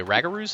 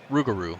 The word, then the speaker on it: Rougarou: So I'm going to say I'm already forgetting how you say Ragaroos? Is that how you pronounce the New Orleans? Rougarou.